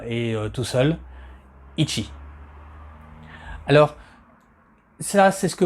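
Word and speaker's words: 一: Alors, je vous donne en même temps une des prononciations, celle où quand le chiffre 1 est tout seul, ichi.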